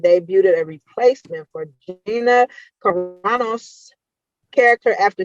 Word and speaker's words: Carano: Up next, Star Wars has finally confirmed and debuted a replacement for Gina Carano's character after 2 years since her firing.